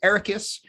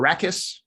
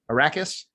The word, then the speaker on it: Arrakis: anyway we're introduced to this desert world called ericus and it's or arrakis right i forget how they pronounced it arrakis that one iraqis sounds right don't make me